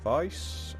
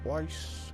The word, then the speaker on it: Weiss: Moving on now to Vice, or Weiss, however you want to pronounce it.